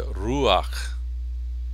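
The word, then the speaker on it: רוח: pone esta esta patac se pronuncia ruaj ruaj también con el nombre noaj Noe sí tenemos también este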